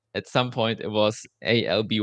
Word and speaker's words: Alby: then we thought uh okay how can we pronounce it differently and then L lb lb and then at some point it was Alby y right the name today and um only